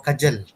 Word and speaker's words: kajal: this product actually the the pronunciation is kajan or kajal kajal okay so the main